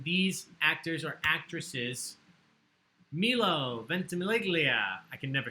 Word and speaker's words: Ventimiglia: Ventimiglia. Yeah, see, I don't feel so bad. Ventimiglia, and I love You him.